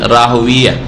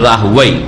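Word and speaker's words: راهويه: ইমাম ইসহাক বিন রাহওয়িয়া, আর কেউ কেউ উচ্চারণ করছে ইসহাক বিন রাহওয়াই, দুটোই শুদ্ধ। ইসহাক বিন রাহওয়াই যেমন সিবওয়াই, যারা আরবি ভাষাবিদ তারা বলছে যে রাহওয়াই পড়বো আমরা, আর মুহাদ্দিসিনে কেরামরা রাহওয়িয়া পড়েছেন, ইসহাক বিন রাহওয়িয়া।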